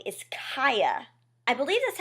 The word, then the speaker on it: Cia: name is really weird I wanted to call her CA I don't know why I felt like that just rolled off the tongue better but it's Kaa is I think how she pronounces it and Kaa is